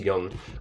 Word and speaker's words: Jung: complex that's Alfred Adler then Carl Jung that's pronounced Jung he is a disciple basically he means he